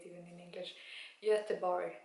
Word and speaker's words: Göteborg: Göteborg, that's how you say it in Swedish.